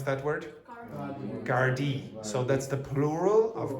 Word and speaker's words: Gardaí: Court has heard that Richard Satchwell told Gardaí that How do you pronounce that word? Gardaí.